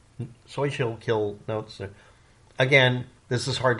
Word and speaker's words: Schuylkill: l k i l l so it's so shill kill so she'll kill notes again this is hard to pronounce unnecessarily because of the way it's spelled